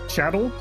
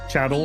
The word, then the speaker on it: chattel: Chattel? I've always said it like it rhymes with cattle. Chattel.